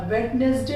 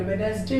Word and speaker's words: Wednesday: जैसे WEDNESDAY, वेडनेसडे नहीं पढ़ेंगे, वेडनेसडे पढ़ा जाता है।